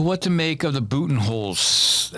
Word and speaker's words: Budenholzer: So what to make of the Budenholzer? How do you pronounce his name? Budenholzer.